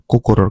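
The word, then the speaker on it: 心: তারপরটা দেখি, এটা হচ্ছে হৃদয় বা কোকোরোর কাঞ্জি, এটার অনের এক্সাম্পল হচ্ছে শিন, মানে অনের উচ্চারণ হচ্ছে শিন, কুনের উচ্চারণ হচ্ছে কোকোরো, ঠিক আছে?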